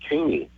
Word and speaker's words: Kanne: We pronounce it as if it had a Y on the end of it. So we pronounce it Kanne.